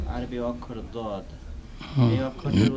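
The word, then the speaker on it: ض: দও নয়, জও নয়, তবে মাঝামাঝি, জয়ের কাছাকাছি, মাঝামাঝি, দয়ের কাছাকাছি নয় বরং, বা দালের কাছাকাছি নয় বরং জয়ের কাছাকাছি।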